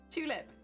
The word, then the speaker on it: tulip: like a d and if the t is at the start it's ch tulip tuesday little potato